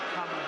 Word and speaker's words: Kamala: You have to pronounce it Kamala.